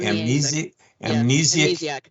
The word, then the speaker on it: amnesiac: amn how do you say that word am amnesiac there it is uh condition uh this decision